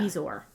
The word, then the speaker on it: bezoar: I think that line means Bezoar. long. Yeah. Bezoar.